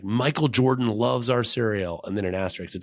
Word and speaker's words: Serial: There's a European, I think British cereal company called Cereal, but it's spelled like SERIAL, like cereal, but it's they make cereal.